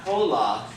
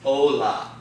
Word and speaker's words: hola: That word is pronounced not hola, okay? It's hola. Because the H is completely not pronounced.